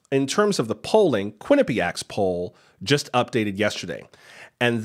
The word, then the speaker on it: Quinnipiac: all the time it's Quinnipiac emphasis on the first syllable Quinnipiac anyway in the latest Quinnipiac poll Joe Biden's lead